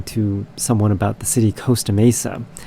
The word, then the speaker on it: Costa Mesa: someone about the city Costa Mesa. Coast is spelled Coast, but this particular city is called Costa Mesa, spelled Costa. So why is it not Costa Mesa and it's Costa Mesa? It's very bizarre.